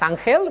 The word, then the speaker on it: Angel: Okay, my name is Angel. We pronounce it that way.